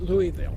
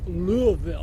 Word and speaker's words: Louisville: Just like if you're from Louisville, you don't pronounce it Louisville. When you live there, it's Louisville, like you got marbles in your mouth.